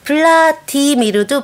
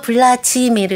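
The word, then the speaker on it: Владимир: 발음을 불편해서 안 하는군요 블라디 미르도 블라지미르 이렇게 국의 음마가 아 그렇게 돼서 그래서 저도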